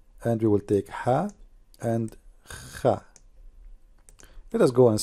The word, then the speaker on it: ح: the Circle the letter ha does not have any dot at all ha now how to pronounce letter ha imagine yourself you are getting cold and you are saying it's cold that's ha very simple many they